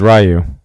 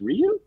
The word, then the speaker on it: Ryu: yeah let's uh what do we think about Ryu did you did you guys call him rayu or Ryu growing up was rayu gr R I called him rayu up until